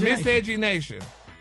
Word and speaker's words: Miscegenation: Let's break it down in 3 syllables. Miss Edge. Where's this? Miss Edge. Miss Edge. Miss Edge. Miss Edge. E-Nation. E-Nation. Now say it together. Miss Edge. Miss Edge Nation.